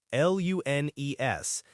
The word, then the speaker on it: lunes: All right, Monday is lunes, L-U-N-E-S, and it's pronounced lunes.